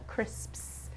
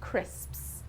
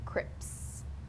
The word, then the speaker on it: crisps: Crisps is a notoriously difficult word for learners of English. It's the S sound at the end, crisps. You'll find a lot of people mispronouncing them as crips, when they should be crisps.